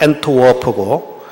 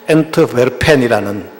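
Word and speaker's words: Antwerpen: 그런데 그들이 갔던 곳이 어디냐면은 네덜란드의 영어식으로 발음하면 엔트워프고 이제 실제 그 현지 발음으로 하면은 엔트베르펜이라는 그 유명한 항구 도시가 있습니다.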